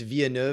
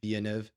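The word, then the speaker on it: Villeneuve: pronounce his name Josh I think it's vianu it's French French Canadian yeah vianu released two movies that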